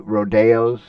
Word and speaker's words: rodeo: Uh Selenus Rodeo is uh one of the the really big rodeos or rodeos in uh on on the US circuit, but in Selenus it's pronounced Rodeo, the Spanish um um pronunciation instead of uh the more Americanized of rodeo.